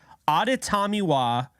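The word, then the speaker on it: Adetomiwa: maybe 0.1 of anybody talking NFL draft can pronounce correctly it is auditamiwa I did say that correctly because I have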